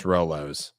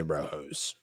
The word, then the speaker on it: Rolo: top five of candies yeah Roos oo proun pronounce Rolos but I say Roos yeah I knew what you meant um I